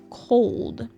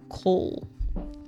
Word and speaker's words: cold: An example of this is the word cold. The common Vietnamese mispronunciation is leaving out the D on the end. For example, when saying cold, it is mispronounced coal.